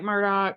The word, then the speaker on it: Murdaugh: So Alec Murdaugh, which is not at all how you think his name is pronounced when you see it written, but that's how he pronounces it. Alec Murdaugh was convicted of murdering